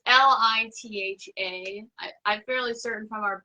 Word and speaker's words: Litha: Is it Letha, or how do you pronounce that? Litha. I'm saying it wrong too. It's Litha.